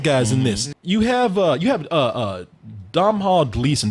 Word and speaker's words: Domhnall: You have Domhnall Gleeson. How do you say his name? Donald. Donald? Yeah. Okay. God damn, just spell Donald then. Yeah, these Gaelic names.